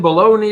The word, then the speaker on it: Bologna: And if you pronounce it bologna, you're probably referring to the overly processed lunch meat that you can buy at Walmart.